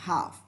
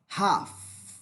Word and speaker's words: have: Y se pronuncia have, J-A-F, así se pronuncia have, have, con la F al final, have.